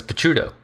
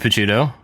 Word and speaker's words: Picciuto: My my grandpa who's 100% Italian says Pachudo. So, I don't know. Maybe he know. What does he know? Chudo. Speaking of David Pachudo, we also have David Pudo.